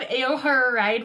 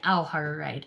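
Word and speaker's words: Ao Haru Ride: lot of fun for me next we have ayoho ride volume 13 which is the final volume of or sorry au har right i keep saying it wrong but this is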